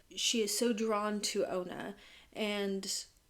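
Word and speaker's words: Ana: She's actually the instructor of her yoga class and her name is Ona. It's spelled A N A, but she is very assistant that you pronounce it Ona.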